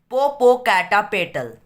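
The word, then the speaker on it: Popocatépetl: तो उसका भाई जिसका नाम जेन है, उससे पता है कि कैसे प्रोनाउंस करता है। इट इज पोपोकैटापेटल, पोपोकैटापेटल, said George, topping at each syllable.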